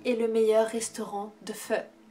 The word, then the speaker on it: pho: livre pour l'amour du feu alors je sais ça s'écrit faux mais il me semble que ça se dit fort c'est de loan ly